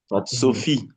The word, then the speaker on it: Sophie: Sophie, Sophie. Sophie. Stéphanie, Stephanie. Kofi, Kofi. Raphaël, Raphaël. Sofiane. Sofiane. You see F and P, H, giving us the F.